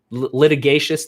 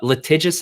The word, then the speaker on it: litigious: become such a uh what's the right pronunciation of this word litigious litigatious no uh litigious i think we litigate everything